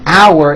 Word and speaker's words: our: The second word our has that ow sound like in the word out, and it sort of has a hidden W in the middle.